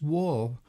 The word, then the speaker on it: waw: Notice how the Arabic letter which is today pronounced war is transliterated in each case as a G.